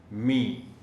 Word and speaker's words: مینہ: نثر کی نسبت، لیکن اس کا تلفظ مینہ، یعنی اس کو تھوڑا سا لمبا کر کے پڑھنا ہوگا، مینہ۔ ٹپ ٹپ، یہ اس